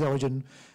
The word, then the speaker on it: Origin: It is Origin. For the benefit of the audience, the G has been replaced with a 9.